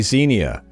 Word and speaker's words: Xenia: That would be Xenia, or I guess Xenia, depending on how you want to pronounce it.